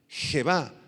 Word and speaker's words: Jebá: Jebá, H-E-B chica A, con acento en la A.